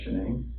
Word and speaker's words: Shanann: And I don't want to pronounce her name wrong, Shanann.